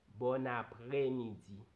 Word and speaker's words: bon après-midi: Digo bon porque hay un acento sobre la O. En après digo après, no après, porque hay un acento. Entonces digo bon y mezclo la N con la A, por eso digo bona.